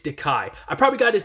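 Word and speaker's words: Dakai: the only ones uh I just said MGI I looked it up I was like that sounded wrong it's diai I probably got his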